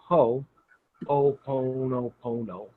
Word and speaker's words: Ho'oponopono: So it's Ho, like the garden tool. Oponopono. Just say Pono, but put an O in front of it. So it's Ho'oponopono.